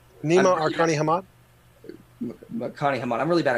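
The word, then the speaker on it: Nima Arkani-Hamed: It's Nima Arkani Hamad. Arkani Hamad. I'm really bad at pronunciation.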